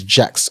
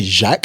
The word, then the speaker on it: Jacques: So, um I'll say my name is Jax and I will always do the thing where it's like it's actually Jack. It would be French.